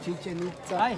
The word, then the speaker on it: Chichen Itza: Welcome to Chichen Itza. Thank you. Chichen Itza is the correct pronunciation, which means chi mouth, chen well, and itza is a thing.